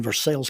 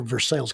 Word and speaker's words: Versailles: They said, "Well, tell you what, you spell it French, but we'll pronounce it American."